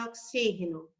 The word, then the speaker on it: oxígeno: Em oxígeno, xi.